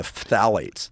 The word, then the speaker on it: phthalates: And she gave a talk about the phthalates, yes. the world's most impossible to pronounce word. Starts with a P. Phthalates. Yeah. It's like ophthalmology.